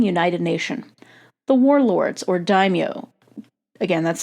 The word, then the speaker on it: daimyo: The warlords, or daimyo, again that's spelled D-A-I-M-Y-O, the daimyo and their samurai warriors often fought between each other.